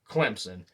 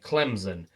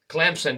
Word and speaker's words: Clemson: say it's seven letters it's two syllables and it's pronounced exactly like it's spelled and I could not tell you over the years how many announcers I've heard say Clemson and I'm thinking to